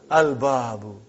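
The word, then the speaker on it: الباب: Al-babu. Is it moon letter or sun letter? Moon letter. You did pronounce lam.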